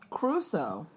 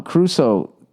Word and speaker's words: Crusoe: Crusoe. The way it's spelled, Crusoe. Robinson Crusoe? Everyone says Robinson Crusoe, but it looks like Crusoe. I say Caruso because I always think of Ray Carruth.